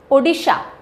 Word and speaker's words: ओडिशा: उत्कल दिवस या ओडिशा डे, ओडिशा है ना, प्रॉपर प्रोनाउंसिएशन अब ये है, is celebrated in the memory of formation of the state as a separate province.